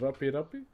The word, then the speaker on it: rape: And the design we're doing is called rape rape. Now, the way you spell it, please don't get it twisted with an English word that is spelled the same.